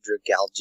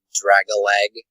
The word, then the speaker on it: Dragalge: line for y I recently learned that it's pronounced dragalge I used to call it like Drago egg is call it the seahorse are you speaking